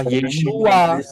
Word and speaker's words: ישוע: Nah, problemnya, apakah Yod Shin Waw Ayin ini bisa dibaca atau diucapkan Yesus? Tidak, Pak. Ya, Pak. Tidak. Jelas tidak, nggak bisa. Karena Yod Shin Waw Ayin itu bacanya, pronouns-nya, pengucapannya adalah Yeshua.